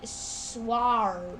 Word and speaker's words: sward: You know, you'd think it'd be like, you know, it's pronounced how like the shing shing sword, but it's actually sward, you know.